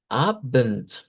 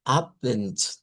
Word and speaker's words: Abend: A eso en idioma Deutsch se le llama Abend, Abend. Y miren, termina con D, pero se pronuncia con T.